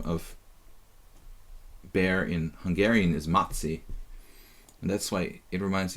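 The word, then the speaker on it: Maci: bear in Hungarian is matzi, and that's why it reminds me of... I'm saying matzi. Matzi, M-A-C-I, in Hungarian is like a teddy bear.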